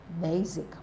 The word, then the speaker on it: basic: but this is what basic B basic basic basic basic is stressed on the first syllable While others is stressed